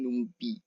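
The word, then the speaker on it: NumPy: Nah, selain itu ada numpai numpi gitu ya bacanya numpi.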